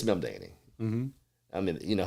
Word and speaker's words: Mamdani: other day endorsed him, and they mispronounced the name. And hell, I may be mispronouncing it now. They said Mandini. We just call him Zoran. This is Mamdani. What's that? We'll go by as first as Zoran. Well, I think it's Mamdani.